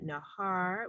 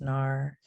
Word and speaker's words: Nahar: And also our friend Nahar. My apologies if I am pronouncing your name incorrectly, but please unmute yourself and ask us your question. Hi, my name's pronounced Nar, and I was wondering